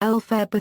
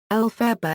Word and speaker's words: Elphaba: Maguire formulated the name Elphaba from the phonetic pronunciation of Baum's initials L.F.B. In both adaptations, Elphaba is also called by